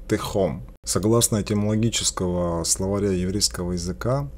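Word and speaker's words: תהום: На иврите оно произносится как техом.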